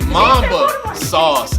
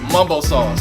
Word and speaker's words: mumbo sauce: to eat though and they mispronounce it see that's that baltimore education so they say mamba sauce it's mum bowl sauce mumbo sauce all right so if